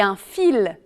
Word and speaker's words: fils: n'est pas toujours prononcée comparer par exemple un outil le elle n'est pas prononcé et un fils le elle est prononcée attention aussi aux mots